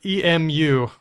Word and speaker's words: emu: The bird that is spelled E-M-U.